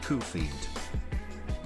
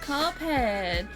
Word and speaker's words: Cuphead: Ali, Cuphead is pronounced Koofeed. It's pronounced Cuphead.